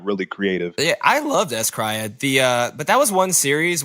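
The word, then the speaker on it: s-CRY-ed: One of my favorites was S-Cryed or Scaraido, however you choose to pronounce it. It's S-Cryed.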